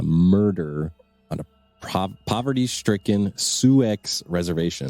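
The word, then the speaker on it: Sioux: on a prop poverty-stricken suex reservation do you say suick's suicks sue yeah that's what i said s-i-o-u-x right spelling x is silent uh that one made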